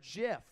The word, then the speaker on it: GIF: could ever open up it says step one pronounce the word jiff step two close the book